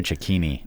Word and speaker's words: Cecchini: listener, you may have heard the name Dario Cecchini. Did I say it right? Cecchini? Dario Cecchini.